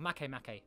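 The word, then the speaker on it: Makemake: getting into the iris make make area of the solar system pretty much really pretty far out or mace mackay that's how you say it so yeah object d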